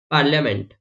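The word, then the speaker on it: parliament: अभी देखो आप पार्लियामेंट जब आप बोलते हैं तो यहाँ पे आप आई का प्रोनाउंस करते हैं, आई मीन आई का प्रोनाउंस नहीं करते हो।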